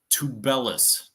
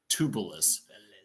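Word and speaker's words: Tubelis: to bellis they're calling tupelous i'm like it's tubeless not tubulus and they're calling him umar because it's o-u-m-a-r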